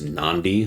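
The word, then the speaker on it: Nadi: was the city of Nandi. I I'm pretty sure it was spelled N A D I, but it's pronounced Nandi. Like there's an N before the D.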